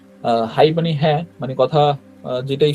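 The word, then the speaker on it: はい: ধরেন হচ্ছে সবচাইতে বেশি ইউজ করে আর কি হাই মানে হ্যাঁ মানে কথা যেটাই শুনুক হাই বলে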